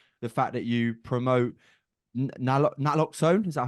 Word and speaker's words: naloxone: And then, of course, we're here to talk about your consultancy services, your coaching, the fact that you promote naloxone. Is that how you pronounce Yeah, it?